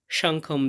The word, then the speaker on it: শঙ্খং: এরপর আছে সাংখম। এখানে শেষে অনুস্বর থাকার কারণে অর্ধেক ম এর মত উচ্চারণ হবে সংখম।